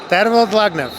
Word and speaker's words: Tervel Dlagnev: Tervel Dlagnev.